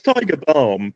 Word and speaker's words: Tiger Balme: No, it's Tiger Balm, but it's I say it with more of an AUM, I guess. Yeah, that's don't pronounce the L so much.